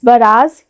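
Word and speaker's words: barrage: Next word is बराज या बैराज। दोनों हम प्रोनाउंस कर सकते हैं बैराज या बैराज।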